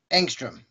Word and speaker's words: Engstrom: All right, now what's the proper way to pronounce your last name? Engstrom. Engstrom, okay. Like the unit of measurement for very small atomic voltage or something like that. It's just spelled with an E instead of an A.